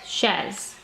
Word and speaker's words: chaises: I have to add an S for the plural, but I will not pronounce this S. So il y a 7 chaises.